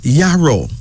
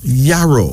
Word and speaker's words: Yaro: Here's another male name, Yaro. Yaro.